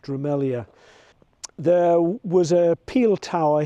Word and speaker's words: Drumelzier: It's spelt Drumelzier, but it's pronounced Drumelzier.